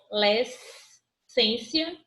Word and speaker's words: adolescência: divisão silábica é a adolescência é uma palavra polissílaba e paroxítona confere e o que que ele é polissílaba e aí e aí e a gente viu divisão silábica minha a gente e ela é polissílaba porque ela tem mais de três sílabas e ela é paroxítona porque a penúltima sílaba dela é mais forte pronunciada com mais intensidade olha a acentuação gráfica